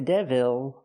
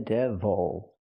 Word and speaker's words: devil: he is the devil not the devil but the devil use the close sound again distress is on the first syllable this is the devil